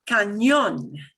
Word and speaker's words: cañón: And you'll notice there's an accent mark on the O in cañón. And when you see an accent mark, that means punch that syllable harder. Okay? Cañón. Cañón. Cañón, which sounds a lot like, canyon, right?